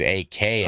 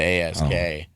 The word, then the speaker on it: ask: Well, I know, but people don't pronounce it. They're mixing it. They're dyslexic. They think it's AKS Oh, instead of ASK.